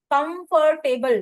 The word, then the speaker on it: comfortable: कंफर्टेबल बहुत बड़ा word है, इसमें से आर को साइलेंट कर देते हैं. आप बोलिए, आर को साइलेंट करके बोलिए, प्लीज से. Comfortable. Very good. Correct pronunciation is कंफर्टेबल.